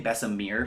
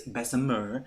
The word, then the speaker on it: Bessemer: got some good news bessemer which i know i've been saying i've been saying bessamir for some time i'm working on my pronunciation it is bessemer has been approved so